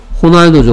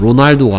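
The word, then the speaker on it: Ronaldo: 호날두죠. 호날두. 됐습니까? R이 H처럼 발음됩니다. 스페인어 이런 뭐 스페인어에서는 H가 R처럼 아니 뭐 R이 H처럼 발음합니다. 호날두죠. 호날두. 로날두가 아니고요. 호날두.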